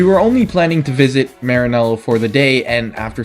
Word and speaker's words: Maranello: Try and test drive some Ferraris in Maranello, Italy. You have to say it properly, like an Italian.